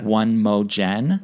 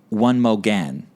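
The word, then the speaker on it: One Mo' Gen: One Mo Jen. Oh, how is it? One Mo Gan. One more again?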